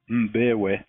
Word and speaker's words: Mbewe: Mbewe. Mbewe, okay. It's spelled M-B-E-W-E, folks, so you can see I might have a problem with that.